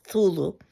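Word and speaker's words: Cthulhu: most famous monster is thulu and it should be something that can't necessarily be pronounced with the human tongue so that's the closest that one could get to pronunciation of it um and it's this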